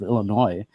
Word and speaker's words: Illinois: of Science and bioengineering at the University of Illinois did I ever tell you Dr Jill that